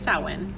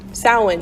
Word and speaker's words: Samhain: So how do you pronounce it? It's Samhain, Samhain.